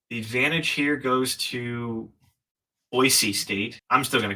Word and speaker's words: Boise: learned from my friend who's from Idaho it's pronounced Boise State campus pronounced what Boise Boise yep whatever